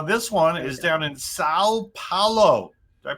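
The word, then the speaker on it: São Paulo: Now, this one is down in Sao Paulo. Did I pronounce that right? Sao Paulo? You say it like you're holding your nose.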